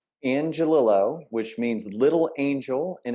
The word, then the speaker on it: Angelillo: name for me so i say it right angelilo which means little angel in italian that's how